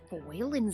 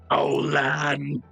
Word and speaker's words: Faolan: Megan reads the paper and says, "Olan," and then quickly her head twitches. Wayland. Yeah, it's a quirk of pronunciation, kind of like how my name is.